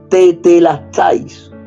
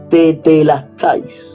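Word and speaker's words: τετέλεσται: Y esa palabra, consumado es, en griego, se pronuncia tetelestais, tal cual yo lo he pronunciado, tetelestais.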